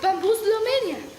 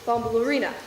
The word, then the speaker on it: Bambalurina: Worse yet, you could wake up that cat, Bamboozle Romania. Her name is pronounced Bambalurina, Heidi.